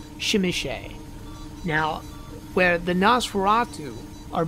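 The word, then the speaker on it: Tzimisce: today are known as Clan zamizi or as it is apparently more appropriately pronounced shimichay now where the Nosferatu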